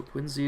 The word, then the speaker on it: Quincy: I'm pretty sure Quincy is the correct local pronunciation. Either that or the actor was weird.